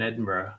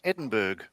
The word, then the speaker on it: Edinburgh: I saw So- the Red Arrows in Edinburgh, I don't know, 12, 13 years ago, flying over the city.